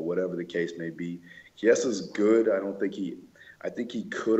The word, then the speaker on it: Chiesa: Chiesa. Boom. Well, it's not spelt like key, is it? It's spelled like chi. No, it's not.